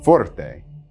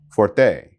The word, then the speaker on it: forte: all that is good please don't place the stress on the second syllable it's pronounced forte not forte the second word i